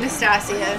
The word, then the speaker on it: Nastasia: Is it Natasha or Natasha? Nastasia. Nastasia. Oh, I didn't even see the S.